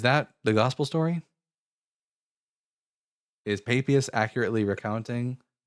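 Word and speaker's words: Papias: Is it pronounced papayas? I would say Papius. It's Papius.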